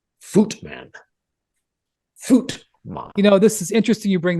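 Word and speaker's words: Voigtmann: I believe pronounced it Voigtman. No. The V is sharp like an F, and the I is silent. Something like Footman.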